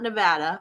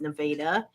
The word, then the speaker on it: Nevada: It's not Nevada or Nevada. It's Nevada.